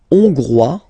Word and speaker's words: Hongrois: La Hongrie, Hongrois, Hongroise. Okay? Hongrois, Grois, Hongroise. Okay, so here, final S not pronounced for the masculine form, and then you pronounce it here for the feminine form.